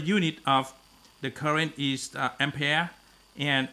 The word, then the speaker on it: ampere: ship song okay okay in french uh it's gonna be called on prayer s okay united states uh english they're gonna call ampere okay so whatever way you pronounce okay is is understandable okay uh so the